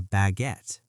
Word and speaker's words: baguette: That is called a baguette.